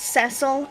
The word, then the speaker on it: Cecil: And it is pronounced Cecil, as if you would say vessel, not Cecil.